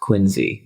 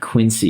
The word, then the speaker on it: Quincy: And it's pronounced Quinzy, Massachusetts. Oh Not Quincy, you piece of Oh no.